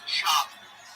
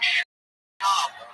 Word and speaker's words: Schaub: Schwab. Don't Schwab. I'm saying it wrong. Yes, it's Brendan Schaub.